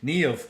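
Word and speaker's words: Niamh: one of the characters was named neov and i literally was not prepared for its kind uh pronunciation knee of okay well nerve is also once again another irish uh name now you know for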